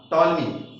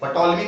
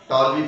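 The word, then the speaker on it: Ptolemy: ध्यान रहे इसमें पी जो है साइलेंट रहेगा, तो इसको क्या पढ़ोगे? पटोलमी कोई नहीं पढ़ेगा मेरे में, पटोलमी पढ़ोगे पूरा काम का सत्यानाश हो जाएगा। इसमें क्या पढ़ना है? इसे टॉलमी पढ़ना है, कोई पटोलमी से नहीं पढ़ेगा।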